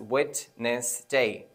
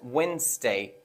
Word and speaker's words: Wednesday: to be pronounced as Wednesday Wednesday it has to be pronounced with two syllables I mean with two